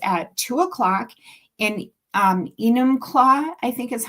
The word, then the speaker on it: Enumclaw: It's at 2:00 in Enumclaw, I think is how you say it, Enumclaw, Washington.